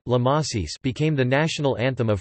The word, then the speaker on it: La Marseillaise: Topic: La Marseillaise, French pronunciation La Marseillaise, became the national anthem of France.